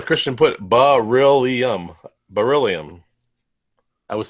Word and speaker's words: beryllium: better yeah ola christian put ba really um beryllium i was saying it wrong beryllium all right